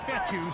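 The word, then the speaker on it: Fetu: a nice run so coach fetty spelled f-e-t-u for the longest time i was pronouncing it coach fedo like feta cheese so let's just say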